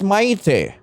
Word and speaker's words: Maite: him yet um um mate or Mighty I have no idea I don't know how to pronounce this name mate that's really nice what's yours today oh I see oh so it's Maite Maite okay ah nice